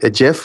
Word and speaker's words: GIF: made it into a GIF or GIF. How do you say that? Yes. Either way.